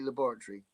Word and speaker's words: laboratory: And the way they say laboratory. Because you say what? Laboratory. You like to pronounce every single syllable as if every bit is as important. No, we don't emphasize Tory. We just say laboratory. Laboratory. Yeah. You're emphasizing Tory. Laboratory. We're emphasizing lab.